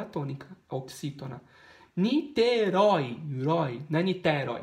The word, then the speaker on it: Niterói: oxítona funil na funil é funil a última sílaba tônica oxítona niterói na niterói e não na niterói não niterói